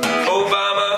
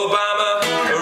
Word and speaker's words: Obama: get out the boat Obama rhymes with pajama you're the one that